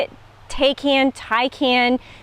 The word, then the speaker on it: Taycan: don't know how you say it take hand tai can toucan um taken i think somebody was like can